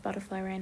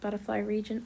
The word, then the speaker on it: Butterfly Reign: however many episodes of Butterfly Rain it was. I'm sorry for the me pronouncing it butterfly region. I am dyslexic. That is how I thought that it was pronounced for quite a while.